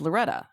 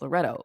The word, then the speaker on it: Loretto: name and they say oh your name is Loretta she no it's Loretto with an O at the end and she would and